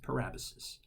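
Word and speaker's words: parabasis: parabolas it looks like para basis but it's pronounced per Abbas's and the parabolas is a direct address to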